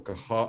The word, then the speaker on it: Qajar: Again, typical for Qajar art, or Kahar art, as it's pronounced.